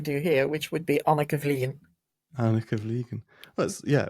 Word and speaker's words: Anneke: just missed uh it's a common occurrence it's anaka as in you remember anaka rice yeah yeah